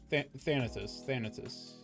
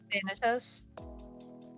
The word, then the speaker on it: Thanatos: Thanatos. I'm assuming that's how it's pronounced. Thanatos?